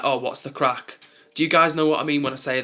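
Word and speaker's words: craic: Or or yeah, "What's the crack?" It means like what's going on, like what's happening. And in Ireland, um they say the same thing, but they spell it c r a i c, whereas in England, we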